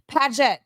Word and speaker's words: Padet: Padet. P. PADET. PADET. YOU GOT IT. It rhymes with gadget.